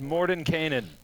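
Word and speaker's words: Mordenkainen: it's Morden Kanan. There you go.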